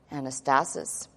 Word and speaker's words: anastasis: And let's write this out phonetically for you. Anastasis, which is actually a compound from two words